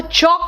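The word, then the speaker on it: chalk: वक दान को कहते हैं आम्स देखो एल साइलेंट है जिससे लिखते हो बोर्ड प वो चौक होता है एंड काम इट इज नॉट एल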